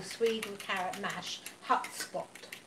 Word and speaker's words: hutspot: Shalimar says, my Dutch mother would call Sweden carrot mash hutspot. Hutspot. Cool. We probably said that wrong. Well, it's spelled H-U-T spot. Okay.